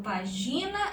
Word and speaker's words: página: pertence a qual grupo eu falo página eu falou paginar ou só o página página é a antepenúltima sílaba mais forte hora ela é uma